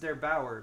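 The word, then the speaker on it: der8auer: by uh I believe his name is pronounced there Bower but I'm totally I hope I'm not wrong about that he's German d e R8 a u e r he's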